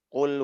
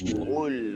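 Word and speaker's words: قل: yang khofi ini adalah tidak menebalkan Q pada saat dia Dah Nah rata-rata bacanya gini Qul huwallah Qul hu makhrajnya tepat keluarnya benar bukan dia baca Qul enggak tapil qull Qul Ya betul bacaannya tapi tidak tebal Iya yang tebal itu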